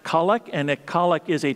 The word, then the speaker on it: collect: you of the terminology a colic is spelled like collect but it's pronounced colic and that colic is